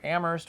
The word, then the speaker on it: Amherst: We saw, we went through Amherst, which was beautiful. Pronounce it correctly. Look at that. Jack, you can move here now because now you can pronounce Amherst correctly.